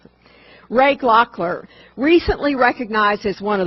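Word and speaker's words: Gloeckler: numbered print by Wisconsin night artist Ray Glock glockler David tells me that's how to pronounce it David Ward told me how to pronounce it Ray glockler recently recognized as one of the world's leading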